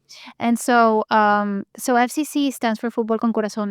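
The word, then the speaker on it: Fútbol Con Corazón: And so now for the last 3 years, you've been the executive director of FCC, which is Fútbol Con Corazon.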